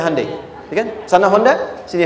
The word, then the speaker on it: Hyundai: bikin Honda sini hundai Hyundai kan dibacanya hundai ya kan sana Honda sini hundai gu di apapun yang